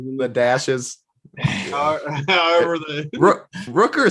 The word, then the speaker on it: Rooker: play of the day his name can't be pronounced roker or whatever what is it rooker i see i honestly like rooker or something rooker yeah that that